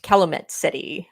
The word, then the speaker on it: Calumet City: that's weird I'm back met Calumet City I wanted to make sure I got that pronunciation right yes I told you about calit